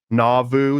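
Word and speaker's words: Nauvoo: with many other men in navu navoo is how you say navu na joined Masons at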